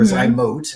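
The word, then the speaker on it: ZyMōt: Hi, Andre asks, what are your thoughts about Zymot in general, or Zymote as it may be pronounced, and particularly Zymot in a donor bank sperm?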